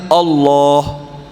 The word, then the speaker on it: Allah: Perhatikan Bapak Ibu ini ada tasdidnya. Ada tasdid ada alif kecil yang panjangnya dua fathah. Eh, dua dua harakat. Dua harakat. Dua fathah itu bacanya Allah.